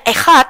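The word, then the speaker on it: אחד: menjawab pertanyaan RT 6 kata ekhat dibacanya ehat di dalam bahasa Ibrani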